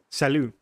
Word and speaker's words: salut: You don't pronounce the T. Yeah. Oh, so it's Oh, so it's not pronounced at all. It's sal.